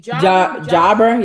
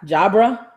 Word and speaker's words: Jabra: How do you pronounce it? J-A-B-R-E. Jabra, yeah. Jabra.